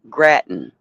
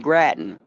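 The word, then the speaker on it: Grattan: Henry Graten.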